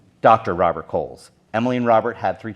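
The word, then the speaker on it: Cowles: when he passed away he left the entire 850 acres to his daughter Emily and her husband Dr Robert Coles and it's c-o-w-l-e-s not k-o-h-les or Angel pronunciation the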